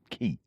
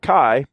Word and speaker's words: Kai: I bought a blade, actually a set of blades from Tri-Blade, and they're Key. That's funny. I don't care who you are first thing in the morning. I think it's pronounced Kai.